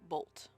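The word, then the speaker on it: Boldt: it cool our thorn bolt did i say thorne uh you said thorne would but uh his name is thorne bolt it's rosa valda and thorne bolt bolt is b-o-l-d-t okay i also got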